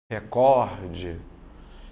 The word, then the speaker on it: recorde: acento Por que não porque a sílaba tônica dela tá aqui ó recorde então a última penúltima ela é uma paroxítona tá vendo aqui como